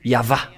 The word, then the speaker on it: Yahvah: le voilà et voilà le vave en phonétique ve ainsi que vave ou VO ou V donc c'est bien un V l'pellation depuis le début il n'y a pas de Hébreux modne mais c'est bien l'hébreux ancien vers Mo- 200 qui a précisé que c'est bien V quand l'pelle donc le WH ou IH VH c'est bien le vave V ou yava et donc on a